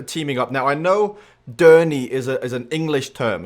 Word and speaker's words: Derny: a few meetings, and he's like, Derny? Journey? What's this word? What is it? Is that a typo? Did you spell it wrong? It's like, don't stop believing. No. It's Derny.